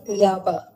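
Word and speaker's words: leaba: It sounds like Laba. And that's the Irish for bed. That's how you pronounce it, la.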